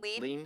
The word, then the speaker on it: Lein: So Julie Lein, is that how we say the last name? Lein, like Lein. Lein on me.